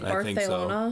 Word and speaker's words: Barcelona: I think in Spain, don't they pronounce the TH more? Like Barcelona? So. Yeah. Rather than Barcelona?